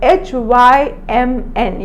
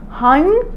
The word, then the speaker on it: hymn: The spelling for hymn is H-Y-M-N. You're not supposed to pronounce it hymn. Yeah, N is silent, so it is hymn.